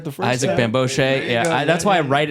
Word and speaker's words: Bamgbose: Bamgbose, Said it right the first Isaac time. Bamgbose.